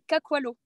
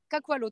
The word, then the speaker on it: Kakwalo: Donc on dit Kakwalo. Kakwalo? Kakwalo, tout simplement.